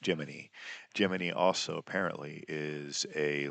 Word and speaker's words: Gemini: Well, they deliberately mispronounced a particular word, Gemini, as Jiminy.